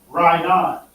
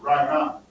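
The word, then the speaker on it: רענן: But it'll be Rainan. That's how you pronounce it. Rainan.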